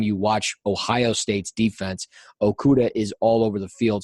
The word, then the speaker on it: Okudah: for Ohio State, Jeffrey Okudah. But here he is, or is it Okada? Is it Okada or Okuda? I think you said it right the first time.